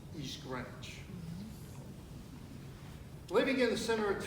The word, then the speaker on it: East Greenwich: i'm going to use local vernacular it's not pronounced east greenwich it's pronounced east ranch living in the center of town we were